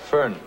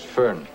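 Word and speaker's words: Föhn: blowing you ever hear of the Fane Bavarian fern pronounced fern fern Bavarian it's a hot dry wind the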